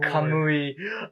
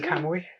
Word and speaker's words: Kamuy: fourth season of golden Camry or um Howard that's pronounced golden camoy yes golden camo week